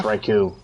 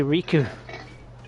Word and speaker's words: Raikou: It's Raikou. Sounds like you're trying to say Riku.